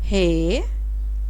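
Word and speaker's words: ہ: Hey, HAY, hey.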